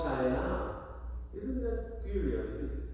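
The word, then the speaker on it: Shinar: They built a tower of Babel, and the place was called China. Isn't that curious? It sounds like China, but it's spelled S-H-I-N-A-R.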